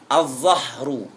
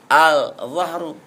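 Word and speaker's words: الظهر: thalibu yang ke-12 dad azzahru tidak boleh dibaca Al zahru azzahru punggung kalau zuhur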